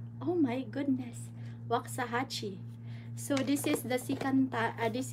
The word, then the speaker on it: Waxahachie: Ay, I pronounce it right. Oh my goodness. Waxahachie.